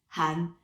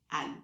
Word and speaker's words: Hahn: And well, they pronounce it always bad because technically you're supposed to pronounce it Han, and they always say Anne. Like you don't, because in French you don't pronounce the H.